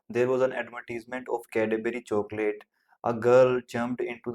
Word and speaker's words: Cadbury: Okay, it's Cadbury. You had made the wrong pronunciation of this.